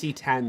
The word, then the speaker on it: CX: cx which is pronounced c10 that x is a roman numeral for 10 the c10 and the